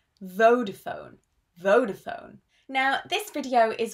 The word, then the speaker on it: Vodafone: This is pronounced Vodafone. All the vowels are very long, not Vodafone, it's Vodafone, Vodafone, Vodafone.